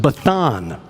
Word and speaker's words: Bashan: In Ugaritic, scholars have figured out that Bashan would have been pronounced Bathan. They vocalized the same consonant in a different way.